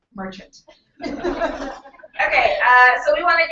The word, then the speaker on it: Marchant: And Jackie Marchant. Not Marchant. It is very important to her Australian husband that it is pronounced Marchant.